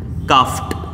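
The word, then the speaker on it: coughed: ये देखिएगा, फ साउंड, फ साउंड आया तब भी आप ईडी का उच्चारण ट करिएगा, लाफ्ट, काफ्ट।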